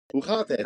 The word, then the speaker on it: hoe gaat het: The only ones I got down was like not got down, but the one I was gonna go with was "Ho got het." hoe gaat het?